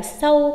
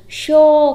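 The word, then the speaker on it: しょう: Có phải là sâu không hay là sô sho ư? À, đọc là gì nhỉ? Sho kéo dài ra thôi.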